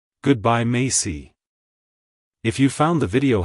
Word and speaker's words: Macey: it's pronounced as mayy Macy Macy to pronounce it correctly emphasize the first syllable May and end with aof Soft C Sound avoid emphasizing the why too much like hello Macy goodbye Macy if you found the